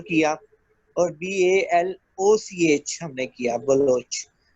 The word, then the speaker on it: Baloch: था official name में, तो उनकी डिमांड थी कि ये ओ से प्रोनाउंस होना चाहिए, यू से प्रोनाउंस नहीं होना चाहिए।